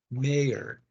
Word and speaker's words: mayor: Don't confuse the pronunciation of the word major, which means specialization, and mayor, which is alcalde. Okay. That is important to understand because the ch and the y are different.